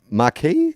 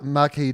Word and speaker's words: Marquis: as it goes Duke Markey is that how you pronounce it oh yeah like like a marquis de sade Nike like it Marquis